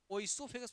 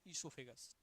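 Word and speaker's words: oesophagus: क्या आ गया नाम ओ इसोफेगस मत पढ़ना ओसो नहीं ओ वहां साइलेंट है इससोफेगस हो गई बात पढ़ने के लिए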